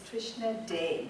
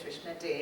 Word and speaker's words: Trishna Dey: It's Trishna Dey, D-E-Y. I think they left off the tail.